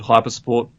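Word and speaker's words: HYPR-Sport: Right, so my channel's called Hypersport. It's spelt a bit strangely. It's HYPR and then hyphen sport.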